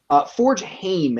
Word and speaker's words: Forgeheim: Is it Forge Hand or Forge Heim? Forge Hame, Hame.